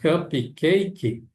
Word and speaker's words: cupcake: A gente fala cupcake, mas em inglês não coloquem um i aqui na pronúncia. Não coloquem na Não digam cupcak cake. É cupcake. Cupcake. O e aqui não é pronunciado.